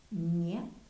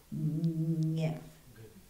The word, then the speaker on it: гнев: Гнев. G-N-E-V. G-N-E-V. G-N-E-V. Гнев.